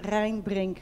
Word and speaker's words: Rijnbrink: You pronounce it Rijnbrink Group, sorry.